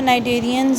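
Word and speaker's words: Cnidarians: नाइडेरियंस को कहते हैं क्योंकि इसमें सी जो है ना वो साइलेंट है, सी नहीं आपने बोलना, इसको नाइडेरियंस या नाइडेरियंस बोलेंगे, ठीक है।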